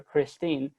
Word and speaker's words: Christina: the name christina or as they pronounced it in the vernacular christine but no one in